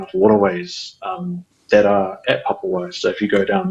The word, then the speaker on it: Papawai: our non-Māori speaking friends to not shorten it to Papawai, but to really accentuate and pronounce the A, so Papawai.